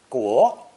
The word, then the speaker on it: 国: Pronounce second tone, 国, 国.